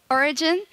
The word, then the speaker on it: Origen: Origen is how you say it in Spanish. So you actually say it like if you were a Spanish person, mm-hmm. but Origin is how you would say it if you were not a Spanish speaker.